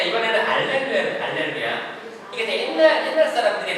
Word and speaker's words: 할렐루야: 루할 때 입술이 어때요? 뽀뽀해요. 뽀뽀 뽀뽀 해 봤어요? 네. 잘했어요. 뽀뽀할 때 입술. 자, 루이 발음을 만들어야 됩니다. 할렐루야.